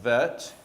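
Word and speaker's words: ב: Or like if it's the bet, that can also sound like vet. If you see the dot in the bet, it's b.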